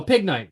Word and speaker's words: Pignite: correctly this here is p g night pg night oh pig knight you're right sorry um pig knight evolves from ted pig starting at level 17.